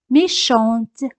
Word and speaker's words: méchante: Pero cuando añadimos E, la T se pronuncia. Méchante, méchante.